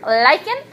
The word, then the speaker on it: lichen: after me alike in its volition but it's pronounced lichen and or mosses these are parried to soil